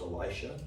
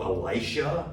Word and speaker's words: Elisha: So just so you know, it's probably appropriately pronounced Elisha, but to try to make the difference when we proclaim the word, we go Elisha, right? So that there's a difference between Elijah and Elisha, right? But Elisha is probably like that's probably how it should be pronounced.